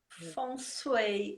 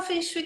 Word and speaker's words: Feng Shui: Feng Shui, como é que a gente pronuncia, Sandra? Feng Shui. A gente fala Feng Shui que é mais fácil.